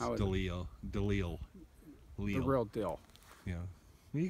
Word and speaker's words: DeLeel: Well, I could tell you one thing about Eric DeLeo. Is that how you pronounce his name? No, it's DeLeo. DeLeel.